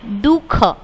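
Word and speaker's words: दुःख: तो इसमें ये अह है, ये बीच में आता है पर ये हमें बोलना नहीं है, यहाँ पे ये साइलेंट है दुख, पर ऐसे बिंदी बीच में आती है।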